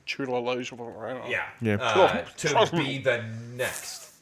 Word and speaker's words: Chiwetel Ejiofor: How do you pronounce his name? Chiwetel Ejiofor.